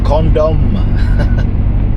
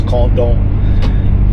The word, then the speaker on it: Condom: the condom. No, it's condom. Even though it's spelled condom, we're not going down condom road.